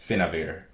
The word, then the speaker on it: Fateweaver: That's like pronounced with a V and not at all with a B, and the D is completely silent, so sorry about that. So, let me get this straight. Fateweaver.